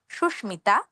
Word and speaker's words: সুস্মিতা: নিয়ম অনুযায়ী কিন্তু আমাদের ময়ের উচ্চারণ উজ্জ থাকতো, শয়ের দ্বিত্ব হতো। সেক্ষেত্রে উচ্চারণ হতো সুস্মিতা। কিন্তু সুস্মিতা হবে না, কারণ এগুলো নিয়মের ব্যতিক্রম। উচ্চারণ হবে সুস্মিতা, কাশ্মীর, কুষ্মাণ্ড।